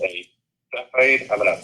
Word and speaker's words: Cepheid: The other one is called a Cepheid. I'm going to spell that because I get it wrong every time pronouncing it.